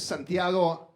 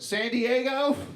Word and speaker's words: Santiago: Texas in the 90s nobody could say my name right like I would just be like hi I'm Santiago and they'd be like San Diego I was like sure